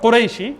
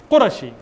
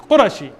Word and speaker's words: Qurashi: You're not called Qurayshi, it's Qurashi. In Arabic, it's Qurashi. It's not Qurayshi.